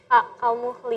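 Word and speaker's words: كَالْمُهْلِ: Tulisannya doang kalmuhli, tapi kan berhenti. Yauma takunu sama'u kalmuhl. Muhl. Ya. Kalmuhl. Jadi nggak boleh juga hilang huruf akhirnya.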